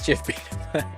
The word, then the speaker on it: GIF: chime in real quick the G and GIF stands for graphics hard G I know I don't know why the original Creator says CHF I mean that's true that's an excellent point the while the Creator says GIF it logically kind of doesn't make sense it stands for graphics which is the hard G you know there's